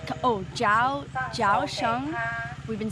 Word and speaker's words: Kaohsiung: of October and we just arrived at the couch on Oh ciao Josh um we've been saying it wrong zoo and